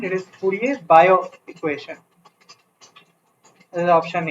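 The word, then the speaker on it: Fourier–Biot: Here also, pronunciation wise, it is not Biot. The T is silent. It is Fourier-Biot equation.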